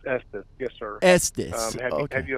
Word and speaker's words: Estes: Is it pronounced Epps or Est? You know, it's Estes.